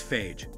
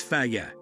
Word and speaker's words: Fage: Fage is commonly mispronounced as phage, which is wrong. Part of the problem is that this is a Greek company and English and Greek phonetics are different. That said, the correct pronunciation is Fa-yeh, as indicated on the company's website.